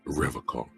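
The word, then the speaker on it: Revachol: did you call it he pronounces Revol with a hard K unlike other people I like to pronounce it the hard way the old way the vespertine way okay Vesper time he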